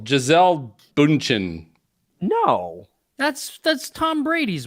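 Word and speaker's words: Gisele: I always get her name wrong. Giselle. Giselle Bündchen? Not Giesel. Giselle Bündchen.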